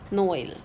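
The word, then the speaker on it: Noël: The purpose of this accent is to pronounce both the vowels that come together separately. Like first one is Noel. Noel. Noel. It stands for Christmas. We are pronouncing O and E both.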